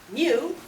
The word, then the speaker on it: mu: Mu, pronounced just like the Pokemon Mew, denotes the mean of all values in a population.